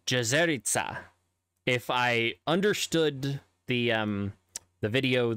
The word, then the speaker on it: Jezerica: However, in Slovenian specifically, which is where these names come from, the C is actually pronounced with what I would call just a TS. So it's not Hornica, it's Hornica. And Jezerica, Jezerica.